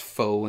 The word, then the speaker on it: faux: these are both the faux leather faux it's pronounced faux in case you didn't know um you can